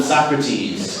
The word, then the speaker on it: Socrates: anything um some of the things i heard mispronounced today was so crates so crates is a philosopher his actually name